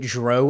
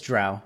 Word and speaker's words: drow: It's pronounced drow. I don't care. And anyone who pronounces it drow elves, it's drow, okay?